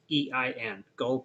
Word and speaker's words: Gal: Gull is spelled Gal, and is. Gull.